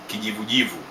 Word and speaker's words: kijivujivu: Grey = Kijivujivu Kijivujivu, originates from the word'majivu' = ashes, so it is ash color!